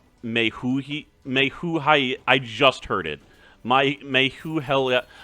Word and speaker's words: Majael: I just looked it up, and this guy's name is pronounced Mehuhai.